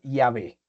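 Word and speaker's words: Yahvé: Ahora, según los estudiosos, la pronunciación más cercana es Yahé.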